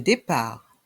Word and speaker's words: départ: vol le vol le départ le départ ici la lettre T est muette le T est mué le départ l'arrivée l'